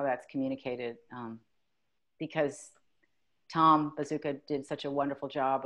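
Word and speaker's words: Bezucha: director wonderful director yeah it's pronounced bazooka but it's not spelled bazooka honey i mean i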